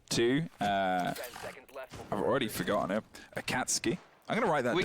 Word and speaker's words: Akatsuki: a huge amount of anime if much it's pronounced akatsuki apparently I can't ski a cat ski what